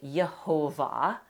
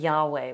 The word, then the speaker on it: Yahweh: transliterate it instead, but they transliterated the mashup, which looked to them like Yehovah. It came into English then as Jehovah. But it is highly, highly likely that Yahweh was actually the original pronunciation of that name.